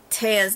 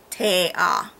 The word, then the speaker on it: Tea: Also, it wasn't until 60-something percent into the book that we're told that Taya's name is pronounced Taya.